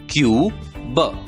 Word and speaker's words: cube: तो सी की आवाज क, यू का नाम यू, बी की आवाज ब। शब्द का उच्चारण होगा क्यूब, क्यूब।